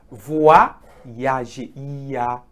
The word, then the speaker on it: voyager: It is voyager.